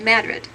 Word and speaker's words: Madrid: The bottom right photograph shows coal tailings from the Madrid deposits in central New Mexico. And yes, it is said Madrid, not Madrid. The locals say that.